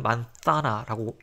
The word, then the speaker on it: manzana: 그래서 얘도 스페인식으로 읽고 싶으면 만사나라고 혀를 이 사이에 끼워서 발음하면 되고 스페인 말고 난 멕시코나 저기 중남미 쪽에도 관심이 있다면 이제 에세로 시오처럼 읽어주면 됩니다.